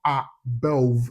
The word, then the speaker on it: above: And take note of the word above. It's not above. It's pronounced above. Yeah. So it's stress on the second syllable. And the second syllable contains what we call the vowel number 10.